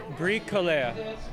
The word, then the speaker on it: Bricoleur: Well, what is the proper pronunciation? Bricoleur.